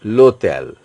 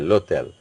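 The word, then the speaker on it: l'hôtel: starting from o is H is totally mute or silent so you are PR pronouncing it lotel LEL the pronunciation is coming from o okay lotel LEL means Hotel H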